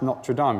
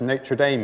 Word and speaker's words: Notre Dame: But he tells a story of being walking across the campus of what I would pronounce Notre Dame University, but what Americans would say is Notre Dame University in the United States.